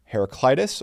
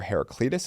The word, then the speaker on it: Heraclitus: comes from Greek thinker heraclitis or heraclitus I've seen it pronounced both ways quote you don't develop